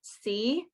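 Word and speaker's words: Cee: um i think her they pronounce her c it's c-e-e is the name of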